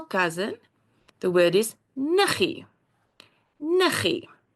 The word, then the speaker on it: niggie: Niggie. See, also, when we write it down, we've got the double G. But when we say it, it is niggie.